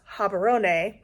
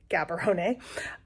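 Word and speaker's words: Gaborone: took us into um actually pronounce habon not Gabon um it meant we got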